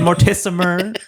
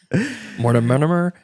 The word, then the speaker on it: Mortimer: I know Gillespie and Mortism. Mortimer.